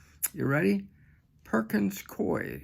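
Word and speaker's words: Coie: called you ready Perkins koi c i e i I guess that's how you pronounce it now I want you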